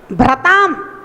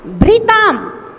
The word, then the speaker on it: भृताम: ये जो भ्री है ना, ये रा नहीं है, री है। हाँ, रा होता तो हम भ्रा पढ़ते, भ्रताम भ्रताम नहीं पढ़ना है, भृताम भृताम।